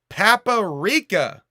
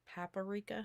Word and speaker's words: paprika: this one too um he pronounced paprika paparika paprika yeah you like that you